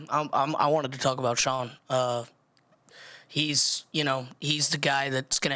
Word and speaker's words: Sean: It's Sean. That's how you say it. It's Sean.